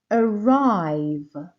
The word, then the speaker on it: arrive: come comfortable comfortable arrive arrive the stress here is on the second syllable you see so we say arrive arrive let's go back